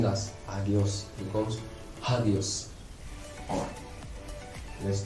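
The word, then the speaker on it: ἅγιος: Now this is rough breathing mark, which means when I transliterate and also pronounce this word, it will pronounce with the sound H sound, that is hop, H sound, H sound.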